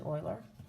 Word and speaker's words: Euler: name is pronounced euler which is not what it looks like it looks like euler but it's actually euler and so an euler